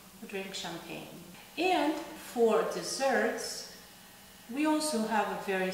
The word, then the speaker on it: десерт: And for desserts, we also have a very similar word. It's pronounced slightly different, but it's very similar. We say десерт.